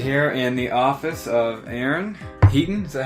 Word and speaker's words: Aaron Heaton: Sit here in the office of Aaron Heaton.